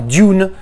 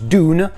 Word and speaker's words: Dune: C'est vrai que le U se prononce You en anglais, donc du coup, tu as tendance à dire Dune, mais en fait, ça se prononce Dune.